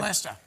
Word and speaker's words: Leicester: Leicester.